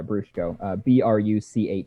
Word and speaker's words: Bruchko: Yeah, Brushko. Bruchko is how you spell that.